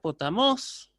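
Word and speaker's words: ποταμός: Yo esta palabra la voy a pronunciar, por ejemplo, la palabra potamos, que aparece acá, la voy a pronunciar potamos, ¿sí? Elevando el tono.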